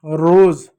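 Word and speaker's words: rose: अब जो एस है इसको ज नहीं पढ़ते, इसको ज पढ़ते हैं, ई साइलेंट होता है, ठीक है, लास्ट में आता है। तो ये क्या होगा, ये आपका रोज नहीं होता है, रोज होता है, रोज।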